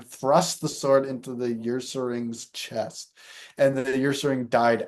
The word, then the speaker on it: Ursaring: While walking through the forest, he encountered a Usaring. Uh, Ursaring, Ursaring.